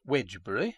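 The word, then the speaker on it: Wednesbury: to the coal trade in heavy Freights wbury pronounced wedgbury and spelled wedner Berry in Doomsday Book stands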